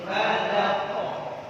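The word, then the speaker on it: فلق: Jadi nggak boleh dipanjangin. Nggak panjang kan? Jangan dipanjangin. Jadi qul a'udzu birabbil falaq. Falaq. Jangan dipanjang. Ingat Ibu. Fa tipis, la tipis. Yang mana tebal? Qaf. Falaq.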